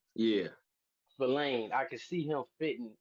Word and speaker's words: Spillane: Spillane, like Spillane. spill. Yeah, Spillane.